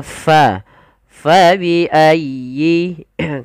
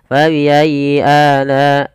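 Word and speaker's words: فبأي: Ya bertasdid itu ada lembut di dalam pelafalannya tekan ayyi fayyi. Dan sempurnakan kasrah pada huruf ya. Jangan fabiayi tidak disempurnakan kasrahnya. Kita harus menyempurnakan daripada bunyi kasrahnya.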